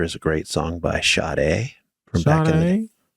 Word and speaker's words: Sade: For the record, that's pronounced Sada. But that's No, she says it's Sade.